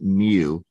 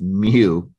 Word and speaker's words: mu: how you pronounce it mu like Mewtwo from Pokemon it's not U it's mu um and the s